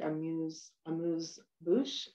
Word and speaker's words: amuse-bouche: There might be a little, I'm not good at pronouncing French whatsoever, but sometimes it's spelled like A-M-U-S-E, like amuse-bouche, B-O-U-C-H-E, sort of like a little bit of a starter, right?